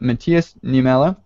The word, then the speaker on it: Matias Niemela: So for our guest today, we have Matthias Niemela. Hello. Matthias, I think I may have pronounced your name wrong.